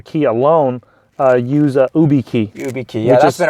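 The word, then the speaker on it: YubiKey: need a Hardware Key alone uh use a UB key UB key yeah that's been around for years um yeah which is spelled uh y u uh uh u i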